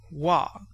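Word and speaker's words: は: Then we have Wah which is written in the same way as H A and found on the charts under HA but it is pronounced W.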